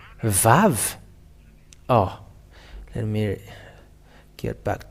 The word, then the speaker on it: Vav: The Vav, because it is called as Vav, it is pronounced as a V.